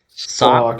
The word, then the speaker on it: Sawk: Sock, Sock. sock, I can just sock and imagine this throw. like a Pokemon that looks like a sock. It's spelled SAWK, Sock.